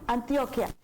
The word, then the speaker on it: Antioquia: Claudia, tú mencionas 2 departamentos, mencionas el Cauca y mencionas a Nariño, que conjuntamente con Antioquia, ¿lo pronuncio correctamente? Antioquia o Antioquía. Antioquia.